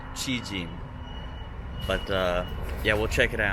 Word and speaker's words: Cijin: Today we're headed to Cijin and for some reason it's spelled like Ci j i n and it's because they used to use tongyong in Taiwan.